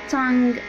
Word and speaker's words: tongue: tongue. tongue بمعنى اللسان. اتكلمنا النهاردة في سلسلة silent letters عن ال silent G، وقلنا دايما silent G بتكون متبوعة بN.